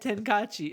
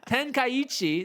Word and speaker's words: Tenkaichi: Budokai Tenkaichi. Oh, I still said it wrong. Tenkaichi. There. The next installment of Budokai Tenkaichi, which the last one was released out in 2008.